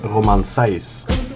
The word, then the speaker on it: Romain Saïss: of your insights on bishi dash's new signing roman seize am i pronouncing that correctly thanks for having me yeah